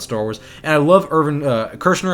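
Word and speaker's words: Irvin Kershner: Wars and I love urban Kershner I believe is how you say his name he's the director for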